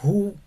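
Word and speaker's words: הוא: ejemplo, eh, who h porque tenemos aquí la shurek y si se da cuenta eh sería como who y esa alf no se pronuncia por nada. Humeleg, que es él es rey.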